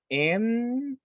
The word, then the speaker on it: niece: We say, I will spell it. You say it N-I-E-C-E. Niece. Ah, there you are. Thank you so much. You say niece for the ladies, and for the boy you say nephew.